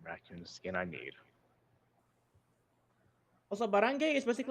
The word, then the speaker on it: barangay: Oddly enough, in the word barangay, the G is pronounced.